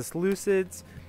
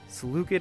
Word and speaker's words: Seleucid: gonna play as the Seleucids I know other people say saluted empire the game says saluted empire but I prefer the Seleucid pronunciation I don't know